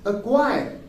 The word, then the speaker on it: acquire: given by the letter q that's why c is silent here another example is uh in the same rule that is acquired acquire is still as a c q u